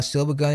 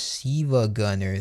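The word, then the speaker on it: SiIvaGunner: Also, Silver Gunner is actually pronounced Siva Gunner. The I is actually an uppercase. I not an L.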